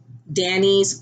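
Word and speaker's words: Danii's: I followed the tutorial by CJ Designs, Danny's Ways. And Danny's is spelled DANII''S.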